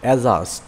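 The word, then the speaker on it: adjust: জে ইউ এস টি এজাস্ট এখানে ডিজে পরপর থাকায় ডি উচ্চারণ হয়নি এজাস্ট অর্থ সমন্বয় করা এডজেক্টিভ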